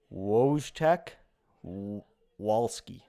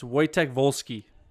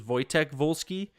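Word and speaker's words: Wojtek Wolski: okay woosh Tech wallski it's waytech volski oh they sound like V's so I'm pretty sure it's actually if I'm pretty sure if I'm remembering correctly it actually is wojtek volsky but everybody call them white Tech a lot of people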